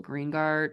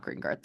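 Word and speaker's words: GREENGUARD: a cheap one but it is still greeng guard not greenard I think it's otex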